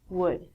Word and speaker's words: would: All of these L's are silent. So it sounds like should, could, and the thing that we get from trees, would.